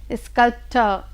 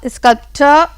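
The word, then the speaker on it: sculptor: बच्चों यहाँ आर जो है वो साइलेंट है। ये जो आर है इसको हम प्रोनाउंस करते समय नहीं प्रोनाउंस करेंगे, बल्कि क्या बोलेंगे? स्कल्प्टर। ये जो रा ऊपर तालु में लगता है ये नहीं लगेगा, और स्कल्प्टर ऐसे करके इसको प्रोनाउंस करते हैं।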